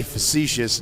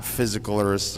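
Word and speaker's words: facetious: So I tried to say facicious not physicalist or whatever.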